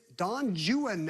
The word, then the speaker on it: Don Juan: had $4,800 her response what is Don jwan as Byron would have pronounced it that's correct the famous